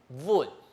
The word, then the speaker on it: 稳: 就嘿稳，稳。好，记得它是一个 V 声母哈，在英